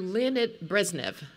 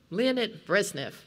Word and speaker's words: Leonid Brezhnev: the soviet union and she kept referring to lynette brezhnev leonid brezhnev i thought why is she mispronouncing his name it occurred to me